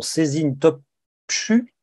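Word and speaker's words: Sezin Topçu: éditions La Découverte avec, je vais très mal prononcer son nom, Cézine Topchu, c'est ça?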